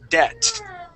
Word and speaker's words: debt: first sentence okay and that be is going to be silent okay the word is debt debt debt debt okay uh the b is silent so that's not going